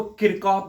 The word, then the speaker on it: Kirchhoff: किरचॉफ भी बोलते हैं इसको, किरचॉफ भी बोलते हैं. जो प्रोनाउंसिएशन आप करना चाहते हो कर सकते हो.